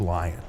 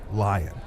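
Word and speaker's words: Lyonne: you're doing so well it's pronounced lion there's a lion on your world that has powers Natasha lion um you said Leon I think you're putting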